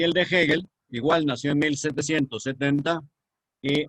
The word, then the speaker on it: Hegel: filosofía que fue hegel hegel que se escribe con h en gel con g hegel y qué cosa interesante